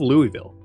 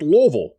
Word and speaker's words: Louisville: telling me it's pronounced Louisville um fine but it's named after King Louis XVI so I'm going to call it Louisville after the person it's named after thank you very much